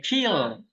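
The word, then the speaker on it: χῖ: Oke, kill. Ke. Nah, itu nama hurufnya apa? Apa? Ki. Ya, bacanya bukan ci ya. Tapi ki. Ki.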